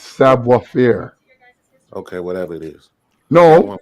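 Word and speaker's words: savoir faire: how you pronounce that no it's savoir fear okay whatever it is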